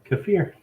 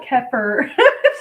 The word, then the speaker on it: kefir: for something kaffir kaffir kefir there you go kefir just remember that because i'm sure you open this pronounce the texture because i called it keffer like a heifer but the color thing